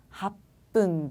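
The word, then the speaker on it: 八分: 주, 니지, 합분 데스. 합흥이 아니라 합분이라고 하죠.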